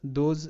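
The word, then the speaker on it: those: দোজ, দোজ, এখানে কিন্তু এস বর্গীয় জয়ের মতো কিছুটা সাউন্ড করবে, যেহেতু এস দুটি ভাওয়েলের মাঝখানে আছে।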